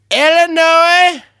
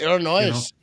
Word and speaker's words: Illinois: Get a kick out of when people pronounce the S in it. The Illinois Illinois over there in Illinois.